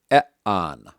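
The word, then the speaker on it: ἐάν: have a on Epsilon Alpha is not a diff thong and so we treat them as separate vowel sounds EA so we have e an another example is you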